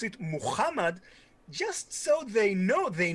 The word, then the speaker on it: Muhammad: in the netherlands right the ha sound am i correct yeah yeah yeah in american english it's it's not it's not common so the americans can't